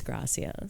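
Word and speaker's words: gracias: was having a panic attack I know it's graas I know and she calls me a wolf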